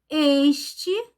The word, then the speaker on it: este: Este, também a pronúncia é fechada.